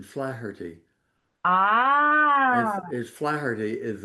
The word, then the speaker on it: Flaherty: Well, I'm I'm as Americans call it, Flareity, but it's fl I I use the Irish pronunciation flirty.